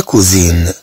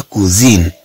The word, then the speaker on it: cousine: On a déjà parlé de ça en disant que quand il y a une seule S entre deux voyelles, alors là, il va se prononcer comme Z.